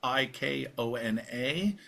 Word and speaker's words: Icona: That's I ko na. Think like the Hawaiian town Kona with I.